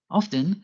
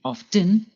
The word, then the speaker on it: often: Often can be pronounced two ways, by pronouncing the T, often, or by not pronouncing the T, often.